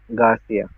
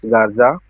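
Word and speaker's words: Garza: Garcia. David said, "Actually, it's Gaza."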